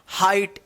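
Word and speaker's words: height: हाइट एच ई आई जी एच टी हाइट।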